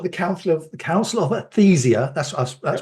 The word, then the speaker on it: Athyzia: um you book the Council of Council of aesia that's that's pronounce right is it good I got that